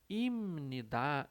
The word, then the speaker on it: 입니다: Vejam que aqui a gente sempre lê com essa pronúncia de imnidá, imnidá, o som de M, né?